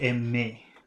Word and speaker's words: aimer: And then number 3, more than one syllable, ending in R, ER, so that should be aimer. No R pronunciation there.